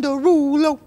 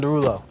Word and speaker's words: Derulo: no um you know say it correctly you don't have to change the way you say it just because you're on the show oh no i'm not changing i'm just like saying my name like like a normal person like jason darulo like your name we'll